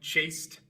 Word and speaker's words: chased: Y por eso al agregar e d la e queda muda y la d se pronuncia como t chased.